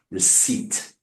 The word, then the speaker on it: receipt: Script, you can hear the P. Receipt, you don't hear the P, right?